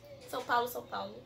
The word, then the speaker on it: São Paulo: São Paulo.